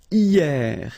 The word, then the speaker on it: hier: And then the first one is hier. Hier means yesterday, okay? Hier. So remember, this H here is not pronounced, okay? So hier.